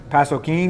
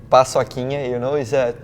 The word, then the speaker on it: paçoquinha: Also, we have, how do you pronounce this? Pasoquin? No, that's okay, guys, that's nice. That's paçoquinha, is a treat from Brazil.